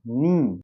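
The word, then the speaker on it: know: ये क्या हो जाएगा नी फिर के एन ओ डब्ल्यू तो कनो नहीं होगा के साइलेंट हो जाएगा ध्यान रखिएगा नो उसके बाद ऐसे ही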